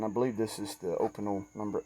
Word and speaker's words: Opinel: Opinel.